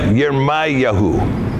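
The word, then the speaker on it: ירמיהו: Jeremiah, Yermayahu.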